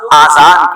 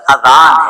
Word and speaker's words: اذان: بعض لوگ آذان کہتے ہیں، یاد رہے پہلے اذان کہتے ہیں کس طرح ہے اس کا تلفظ سے بچ لیں. آذان اذن کی جمع ہے، اذن کہتے ہیں کان کو، یہ آذان نہیں ہے، یہ لفظ اذان ہے، ٹھیک ہے.